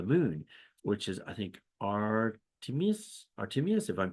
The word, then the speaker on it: Artemis: goddess of the moon, which is, I think, Artemis, if I'm pronouncing that correctly. Artemis.